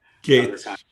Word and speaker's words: Gaetz: I don't know how to pronounce his last name. Gaetz.